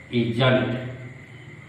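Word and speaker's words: isn't: जैसे हम जानते हैं ना, इज और नॉट जोड़ेंगे, देखिए क्या होगा, इजंट। इज और नॉट दोनों एक दूसरे में सट गया, और नॉट का ओ क्या हो गया, साइलेंट हो गया।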